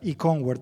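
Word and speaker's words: Eonward: our company is um two words join together Eco as in ecology and onward as in moving forward it's pronounce e word and I know we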